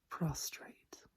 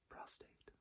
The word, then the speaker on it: prostrate: So, prostrate, not prostate. Prostrate.